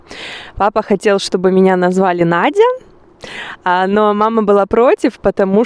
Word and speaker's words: Надя: И произносится Надя, как и в русском языке.